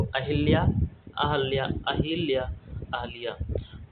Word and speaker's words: अहल्या: अहल्या, यह आपका व्याकरण की दृष्टि से और बोलने के दृष्टिकोण से दोनों ओर से जो है शुद्ध है। तो आपका सही शुद्ध उच्चारण वाला अर्थ होगा अहल्या। अहिल्या शब्द आपका गलत होता है, ध्यान दीजिएगा।